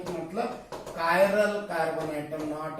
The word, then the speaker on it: chiral: Asymmetric carbon atom का मतलब कायरल carbon atom, not ए, ये CH है, की बोलेंगे इसको अपन, ची नहीं बोलेंगे. इट is called a कायरल carbon. The pronunciation कायरल.